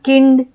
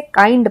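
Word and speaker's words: kind: अब बात करते हैं आई का आई के रूप में उच्चारण, जैसे कि आई एन डी काइंड, इसे हम किंड या केंड ऐसे हम नहीं पढ़ेंगे, हम इसे काइंड पढ़ेंगे, क्योंकि यहाँ पे आई का जो उच्चारण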